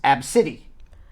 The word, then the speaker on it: ABCDE: said that she and young ABCDE and it's pronounced AB City absolutely really yeah well you know what that's